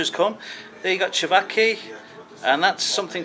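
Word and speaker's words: ćevapi: I ordered first off for starters the cevachi.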